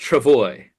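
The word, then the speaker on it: travois: So, I looked it up and it's pronounced travoy.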